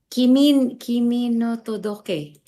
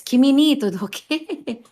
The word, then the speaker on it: Kimi ni Todoke: Kimi no Todoke. I don't know how to pronounce it. Hmm. Kimi no Todoke. Yes, Kimi ni Todoke.